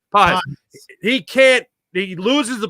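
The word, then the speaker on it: Pagés: Pajes.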